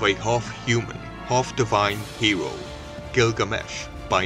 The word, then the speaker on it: Gilgamesh: for the narrative his name for a time provisionally read as dish the wall or Easter bar but now known to have been pronounced Gilgamesh the name suggests that